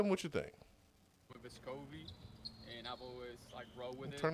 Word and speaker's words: Vescovi: Back home it would be Vescovi, the accent would be on the first E instead of the O, like people say here.